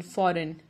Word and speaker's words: foreign: Rule number 1, the letter G is not pronounced when it comes before the letter N in a word.